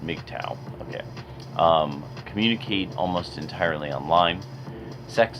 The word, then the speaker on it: MGTOW: first pictures members make tao pronounced McDow communicate almost entirely online